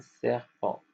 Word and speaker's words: serpent: P n c'est en répéter e n c'est en le t à la fin on le prononce pas. Ça donne serpent.